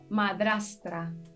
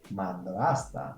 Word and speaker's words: madrastra: Madrastra. Madrasta. Mi madrasta. Madrasta. Okay, here I want to say that when I say madrastra, I did it right.